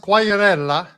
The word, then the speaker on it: Quagliarella: And it's pronounced Quagliarella.